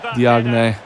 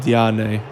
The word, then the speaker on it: Diagne: Diagne. I think it's pronounced Diane or something like that.